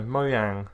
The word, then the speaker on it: Mojang: which is minecraft dungeons do you not pronounce the J oh and not you personally do you not meant to I don't think so mo yang is saying on Mojang no it's mo yang cuz it's Chinese and it the game